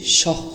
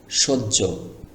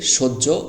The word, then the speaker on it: সহ্য: এখানে যদি আপনি সহ বলেন তাহলে কিন্তু সঠিক হবে না। সহ্য সহ্য ধৈর্য আমরা বলি না সেই সহ্য এখানে হবে। তো এটাকে সহ্য উচ্চারণ করতে হবে।